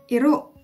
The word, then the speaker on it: iro: Our next animal is dog, which is iro. Iro. Dog is iro. The word for dog has a rolling R.